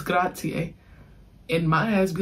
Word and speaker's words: grazie: Nina gonna be like, you're not pronouncing it right. It's grazie.